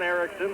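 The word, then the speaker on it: Erixon: by Yann Ericsson one Ericsson is spelled with an X er IX o n and the other John Ericsson is er I XE I are KS s om but pronounced exactly the same to John Ericsson ISM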